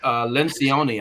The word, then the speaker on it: Lencioni: But Patrick Lencioni, I think is the correct pronunciation of his last name, wrote a book entitled The 5 Dysfunctions of a Team, right?